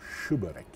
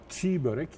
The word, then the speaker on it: çiğ börek: Şimdi yazılışta çiğ börek. Telaffuzda aslında şı börek. Denize gelen bir şeye dönüşüyor. Ama çiğ börek hiç değil. Yani yumuşak ye hakikaten yok.